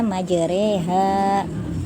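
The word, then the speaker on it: مجريها: surat hud ayat 41 tulisan majroha dibacanya majreha jadi roh dimiringkan menjadi e.reg majreha Sebab di malah kan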